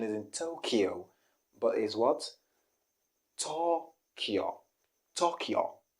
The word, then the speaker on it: Tokyo: the pronunciation is in tokyo but is what tokyo tokyo tokyo not to tokyo i think this sounds more like a japanese tokyo tokyo okay let's go to